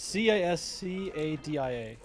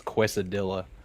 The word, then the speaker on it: quesadilla: to know I put C is C a DIA close its qu e I won't fault you for that you yeah it's Spanish it's yeah it's phonetically its cuesta Dilla okay so geez you